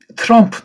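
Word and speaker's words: Trump: 잘 모르면 가벼운 아자를 붙이면 되게 많이 편해요. 물론 또 미국은 지역이 크고 사투리도 있으니까 조금 차이가 있는지 몰라도 쪽에 가까운 것보다 아 쪽에 가볍게 가까운 쪽으로 발음하면은 여러 가지 무난한 경우들이 대부분인데, 트럼 하면 괜찮습니다.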